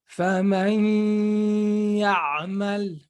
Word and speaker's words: فَمَنْ يَعْمَلْ: And pay attention that we have to put the ghunna, because it is very easy to do a mistake and pronounce the emphasis on the ya without putting ghunna.